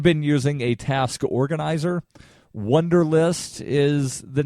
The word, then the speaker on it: Wunderlist: using a task organizer wunderlist is the name of that it's spelled w u nder li st so it's like the word wonder but it's spelled with a u and again i'll post